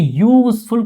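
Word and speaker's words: useful: देखिए यूजफुल का प्रोनाउंसिएशन करिएगा ना, तो यूजफुल कॉन्सोनेंट का है, दैट मीन्स क्या? ए यूजफुल गिफ्ट।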